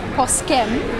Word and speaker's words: Poskem: It's called Poske, where it's Poskem, but Poske is the pronunciation.